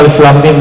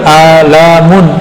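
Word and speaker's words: الم: masih bahasa bumi, sedangkan Alif Lam Mim bahasa langit, ya. Semua orang Arab bingung. Kita alhamdulillah diizinkan Allah Subhanahu wa taala mendapatkan ayat-ayat seperti ini, dan dibacanya bukan alamun. Alamun artinya penyakit, sakit.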